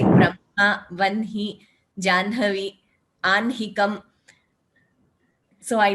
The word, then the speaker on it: Brahma: So first, very personally, I pronounce it as Brahma, Vanhihi, Anhikam.